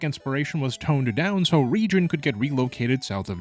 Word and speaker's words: Rijon: a new region called Rijon. And yes, that is the correct pronunciation according to its creator, Cool Boy Man.